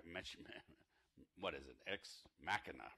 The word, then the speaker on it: Ex Machina: X mashina Matt mention man what is it ex machina right is that how you pronounce that ex machina did anybody see that film yeah it was